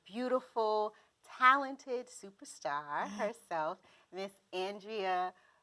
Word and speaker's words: Andrea-Rachel: And it's not even Andrea, I just made up a whole other name. Yeah, it's Andrea-Rachel. Right.